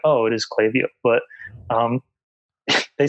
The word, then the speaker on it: Klaviyo: And then I'm like, "Oh, it is Klaviyo." But they said they don't care. I can pronounce it however...